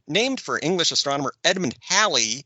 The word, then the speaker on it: Halley: for English astronomer Edmund Halley whose name rhymes with Valley Halley's Comet is the